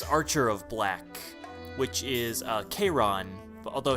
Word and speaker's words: Chiron: of black which is Chiron but although his name is spelled like cheerin yeah I spelled the